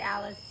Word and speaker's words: Alice: I say Alice, he says Alice. Alice, that's the Italian pronunciation, Alice.